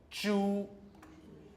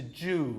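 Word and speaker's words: 猪: this way Chu yes a lot of people say it like that as though it's jus he's a Jew all right now what what they're doing is it's a pure vowel so the tongue should be like this at the back a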